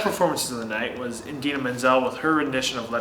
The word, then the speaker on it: Idina Menzel: different performance introducing her when he mispronounced her name terribly wrong, calling her something along the lines of Adele Dazeem. Yeah, from Idina Menzel to Adele Dazeem.